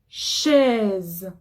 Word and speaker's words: chaise: Une chaise. C'est la même chose. Voyelle avant, voyelle après.